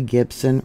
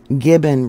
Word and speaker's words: Gibbon: the Bison carcass on both sides of the Gibson River or I'm pronouncing it wrong it's Gibbon River and we got the Gibbon geyser Basin